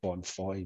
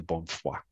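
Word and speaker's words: Bonnefoy: you pronounce his name i would have said bon foy because i'm an ignoramus i was corrected to bonfire um and i'm pretty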